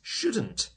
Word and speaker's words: should: It's spelt with an L. S-H-O-U-L-D. But the L is silent. We don't say it.